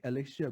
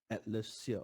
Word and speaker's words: Atlassia: You have to pronounce two words. One is Atlas. Atlas means the globe, right? The globe. Atlas, Atlas, and also combining with the other word called cassia. Okay, cassia tree, Cassia.